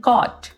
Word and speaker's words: caught: और इसी तरह से night, NIGHT night, light, LIGHT light, CAUGHT कॉट। तो आप एग्जाम्पल से समझ गए होंगे कि जब GH साइलेंट आ रहा है तो उसके साथ लास्ट में T ज़रूर है।